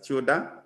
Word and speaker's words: tilde: Actually, it's Control tilde is pronounced as tilde, from Matilda, which if you don't want to use that, you can go to formulas and use the show formulas.